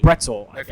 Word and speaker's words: Bretzel: Uh, Brett Bret Bretzel, I believe it is. Um, rhymes with pretzel.